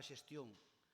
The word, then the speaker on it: xestión: A palabra xestión, que se escribe con X ao primeiro e que termina cun acento na ON, pois, sí, pero con acento en ON, ten por o medio